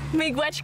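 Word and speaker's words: miigwech: We say mi gwech.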